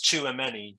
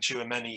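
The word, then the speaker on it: Tchouaméni: Yeah, I think it's Tchouameni you pronounce it, but he's I think the positions that we need to.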